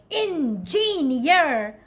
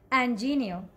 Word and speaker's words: engineer: call it engineer yes I know you try to stress on all the syllables engineer no let me tell you the correct way to say this word is and genio and Genia try to make it smooth okay don't say engineer okay